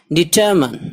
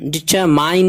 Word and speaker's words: determine: DETERMINE, DETERMINE डिटरमन, डिटरमाइन नहीं पढ़ना इसको, माइन, डिटरमन इरादा करना, अज़्म करना.